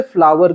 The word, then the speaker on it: flour: Batter यानी पिसा हुआ अनाज जो होता है ना, उसे फ्लावर कहते हैं, FLOUR। ये और आपका जो फूल होता है ना, FLOWER, दोनों का प्रोनाउंसिएशन एक ही है लेकिन स्पेलिंग और मतलब अलग है।